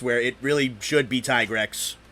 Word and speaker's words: Tigrex: odd sometimes man it's the reason that it's pronounced tigrex over the states where it really should be tigrex it's tigrex and it's uh bracki dios yeah that's that's